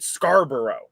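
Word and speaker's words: Scarborough: is named after scarra but we pronounce it Scarboro so like I spent my entire childhood on trains that would call out the Scarboro Center stop no the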